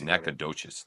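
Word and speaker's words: Nacogdoches: we were music students Nacadoches is that the proper way to say it nades NES yeah don't don't call me naked roaches but do call me nades uh he's but he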